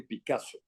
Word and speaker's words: Picazo: olvidar Santos balmor y Picasso Picasso Por cierto se escribe diferente Pero se pronuncia igual que del maestro Pablo Picasso verdad y otros pintores